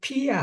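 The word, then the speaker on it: pia: 하면 플리 피야 이게 피야 하고 에스페란토 참 재밌는게 뭐냐면 발음을 잘해야 돼요 피야 하고 휘아 하고는 전혀다른 뜻이야이 정반대라 휘아는 나쁜 거고 피하는 경건한 걸 말해 경건한 거 그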